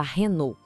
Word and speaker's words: Renault: Vamos falar da Renault. A gente vê o mesmo padrão aqui, igualzinho em Peugeot ou as letras no final, nesse caso LT, são silenciosas.